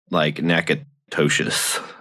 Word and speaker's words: Natchitoches: And they're Natchitoches spelled is spelt like Nakatoshis. Nakatosh. It's like NACOT. There's extra letters in there.